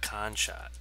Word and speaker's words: Konschtat: about this was uh abyssia khan shot i believe is how you say it and uh correct